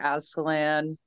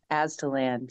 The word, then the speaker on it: Aztalan: there in Wisconsin at Aslan. I always say it wrong, but and Aslan. Then the fun happens. Aztalan, yes.